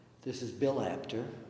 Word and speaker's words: Apter: This is Bill Apter, rhymes with chapter.